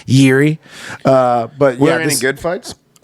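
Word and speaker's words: Jiří: J-I-R-I is how you say his name. Yuri.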